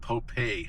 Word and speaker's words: Popé: That was instigated by and planned by an Indian from Ohkay, Owingeh, Pueblo here called Popé, spelled Pope with an accent on the E.